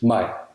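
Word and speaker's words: maj: Mig, meaning me versus mig, meaning May, as in the month of May. mig, mig. It can appear in syllables with a long vowel or in syllables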